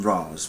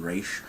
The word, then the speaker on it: Ra's al Ghul: I call him Raz, but for some weird reason now they seem to be calling him Raish. I mean, come on, it's spelled R-A-S, so therefore, as far as I'm concerned, it's Raz.